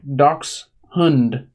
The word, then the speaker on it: dachshund: makes sense but in in German it's pronounced like ducks hund bonbon throwing it down